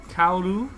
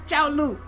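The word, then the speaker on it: Cao Lu: Kaolu and Jay. It is not Kaolu. It's Chaolu.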